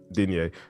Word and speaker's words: Denyah: Denyah, first of all, I want to make sure that I've been pronouncing your name right the entire time. You absolutely are. It's perfect. Denyah, sick.